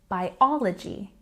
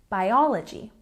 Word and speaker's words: biology: a stress on the second syllable in biology biology you might notice this